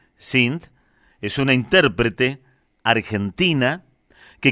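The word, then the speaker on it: Cinth: Sin, a quien les voy a presentar, así, C-I-N-T-H, así se escribe, Sint, es una intérprete argentina que conocimos gracias a este espacio, gracias a Voces del Mundo.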